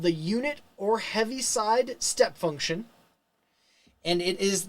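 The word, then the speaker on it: Heaviside: after a person and you say heavy but it's oliver heavyside and so there's not an ea in there not did i spell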